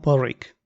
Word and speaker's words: Pádraig: Me llamo Porrick, que para los que no sepáis gaélico, se escribe P-A con acento D-R-A-I-G y en español significa.